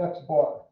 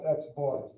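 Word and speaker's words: x̄: This means we call it x bar. So that's x bar. That's how we pronounce that, x bar.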